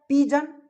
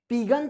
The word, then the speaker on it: pigeon: अब मैंने क्या बोला कि जी के जस्ट बाद आई या ई लगा रहा है, तो उस जी को ग के सेंस में नहीं पढ़ करके, नहीं बोल करके, नहीं